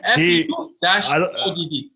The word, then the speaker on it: Fouad: He says Fouad. His name is Fouad. Like Fouad. ODD. Fouad. Yeah. Fouad. Exactly. FU-ODD.